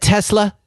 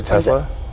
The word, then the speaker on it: Tesla: of Tesla I say Tesla you say both okay Tesla actually I think I probably say it with a slight z sound or I never hav't